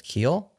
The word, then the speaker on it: Kiehl: changing our mind should we talk about Chris Keel yeah May that's how you say his name